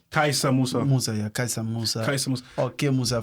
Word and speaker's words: Kaisa: K let me how you how do you spell it k a r s a kaisa kaisa Musa mus kaisa Musa kais Musa for sure yeah